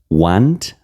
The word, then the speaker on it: want: Y aquí algo importante en inglés, cuando yo tengo una a que está antecedida o que está antes de una w, generalmente en inglés esa a en pronunciación se vuelve una o. Que da no want.